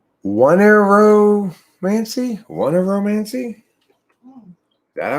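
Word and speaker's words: oneiromancy: dreams in order to foretell the future is onyromancy wow next time somebody says like i had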